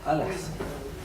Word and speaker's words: Al-Ahsa: How do you spell it? A-H-S-A? Yes. Is it Al-Ahsa or Ahsa? Al-Ahsa.